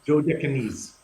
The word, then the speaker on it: Dodecanese: Yes, where you can actually see the continental shelf of Greece, as well as the how do you pronounce the Dodecanese Islands? Dodecanese.